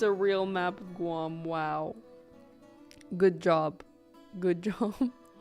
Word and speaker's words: Guam: as described by Yaki Guam rhymes with Spam did you call it